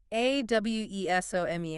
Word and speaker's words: awesome: It sounds like awesome, 2 syllables. The first part, ah, sounds like the sound you make when you see something amazing, like or ah. The second part, some, sounds like some, S-U-M, like adding numbers, some. The stress is on the first part, awesome.